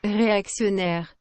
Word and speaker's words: réactionnaire: So I have to pronounce the action part like the word axe.